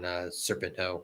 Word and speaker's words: Serpentico: And then Page hit the buckshot lariat on Serpento, whatever how you pronounce this name. I can't pronounce his name. You hit it. You've done it right every time. Serpentico.